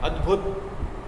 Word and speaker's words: अद्भुत: विशैला, अद्भुत, द का उच्चारण कम है, अद्भुत।